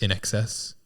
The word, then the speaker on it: INXS: Do you think it's supposed to be pronounced in excess?